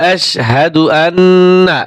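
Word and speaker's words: أشهد أن: শারিকালাহু আশহাদু আন্না ও আশহাদু আন্না টান দিবেন না মুহাম্মাদান মুহাম্মাদান আবদুহু ও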